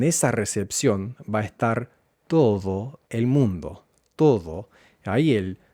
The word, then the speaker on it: todo: En esa recepción va a estar todo el mundo. Todo. El la D es más como la th de then or there, todo el mundo y pronuncia esta palabra de esta forma para enfatizar.